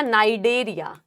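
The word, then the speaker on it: Cnidaria: porous यानी Porifera नई ceiling नई से आ गया नाइडेरिया सी साइलेंट होता है सी डेथ साइलेंट है नाइडे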